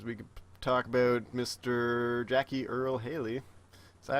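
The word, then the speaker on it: Jackie Earle Haley: Jackie Earl Haley. Is that how you pronounce his name?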